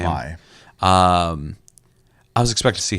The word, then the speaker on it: Mai: Mai.